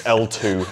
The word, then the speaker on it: Ltwoo: from a company called L2. I'm trying to pronounce it. I'm making an effort, Jimmy. I'm trying to pronounce it correctly. It's L2, apparently, even though it's spelt like twit-twoo.